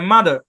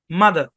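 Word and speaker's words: mother: আর আছে ঠিক কিনা ব্রিটিশ ইংলিশে এই আর সাইলেন্ট আর আমেরিকান ইংলিশে এই আরকে উচ্চারণ করা হয় অর্থাৎ ব্রিটিশরা এই শব্দের উচ্চারণ করে মাদার মাদার আর উচ্চারণ করে না মাদার মানে দা বলে জিহ্বাটাকে ছেড়ে দেয় মাদার মাদার আর আমেরিকান বলে মাদার মাদার মাদার এরকম উচ্চারণ আর টাকে উচ্চারণ করে বাদ দেন ব্রিটিশ বাদ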